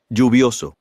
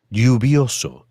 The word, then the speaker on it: lluvioso: You may notice that the pronunciation of Elle. is different in the various Spanish-speaking countries. You may hear it pronounced as J, for example, Lluvioso. or as Y, for example. Lluvioso. In Argentina and Uruguay, you may hear it pronounced as SH, for example.